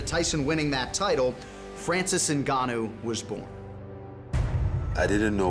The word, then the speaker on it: Ngannou: And then we just settled on Ngannou.